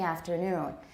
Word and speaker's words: afternoon: way you're saying it where is the main stress yeah a noon i thought you i heard you say it was on aft afternoon and that's a common taiwan english mistake because in many speech